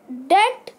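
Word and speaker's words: debt: फिर ऐसे वर्ड्स है टी जिसमें टी से पहले बी आता है और बी साइलेंट होता है। तो ये तीन ही वर्ड है। डाउट मतलब संदेह। डेट मतलब कर्ज।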